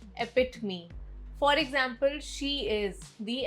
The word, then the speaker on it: epitome: Word 25, epitome. Not epitome, epitome.